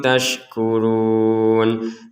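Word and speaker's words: تَشْكُرُونَ: Mim ba'dialika la'allakum taskurun. Mim sukun di sini bertemu ta. Kita baca dengan jelas ya. Laallakum taskurun. Jadi jangan dibaca dengan samar laallakum tasya' atau dibaca dengan dengung.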